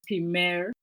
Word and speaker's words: Pimer: struggle to pronounce it it's pronounced as Pim wow Pim is it French no it's a name and it's uh by the AL tribe oh my God